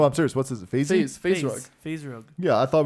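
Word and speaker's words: FaZe Rug: We were about to square up with Fazy Ruggs group. What's his name on Who? YouTube? Phase rug.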